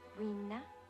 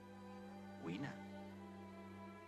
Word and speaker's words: Weena: Rina? Weena. How do you spell it?